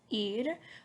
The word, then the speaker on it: ir: this verb properly so if you think about the thing on your body that you hear with right it's called your ear that's kind of how you pronounce this one right so it's going